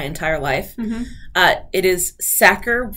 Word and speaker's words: Sachar: i've been calling lewis satcher my entire life uh it is sacker rhymes with cracker i found an audio